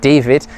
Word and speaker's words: Dawid: His name of course um spelled D A W I D but pronounced David um scored his first goal for the punters.